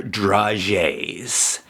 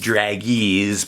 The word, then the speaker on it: dragée: It looks like it should, and it's not really in focus, but it looks like it should be pronounced dragees, but it's the word dragée.